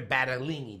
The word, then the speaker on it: Battaglini: the ballsiest female comics in the country, Sandra Battaglini.